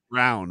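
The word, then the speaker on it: Braun: and then Christian BR is it Brun or brown brown which is annoying because it's spelt brwn like right and and then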